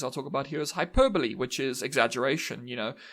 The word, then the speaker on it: hyperbole: hyperbole and hyperbolic and I know it is spelled hyperb but it's Hyperbole and hyperbolic um because English hates you uh that's that's something